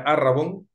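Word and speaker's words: ערבון: versículos 17 y 18 la palabra hebrea que pueden ver allí el escrito pero que se pronuncia Aragón en griego se encuentra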